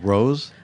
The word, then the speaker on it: Rosé: did I say Wild Rose I mean you can say whatever you want yeah it's Wild Rose I mean there's an accent on the E but Wild Rose wild Ros but it's one word